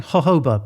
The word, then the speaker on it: jojoba: know yeah well cuz we keep saying hoba but it's spelled jojoba isn't it so joj